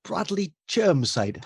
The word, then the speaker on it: Bradley Chirmside: And Dan put me in touch with a lovely chap called Bradley Chirmside. Have I pronounced that right, Bradley? It was perfect.